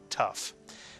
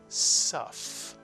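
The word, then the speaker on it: ת: If you take the Dagesh out of the Tuf, it is still pronounced as T, Tuf. And I say that because some of you at one time may have been pronouncing Hebrew in the Ashkenazic dialect, where the Tuf did make a different sound if you took the Dagesh out, and then it was called a Suf.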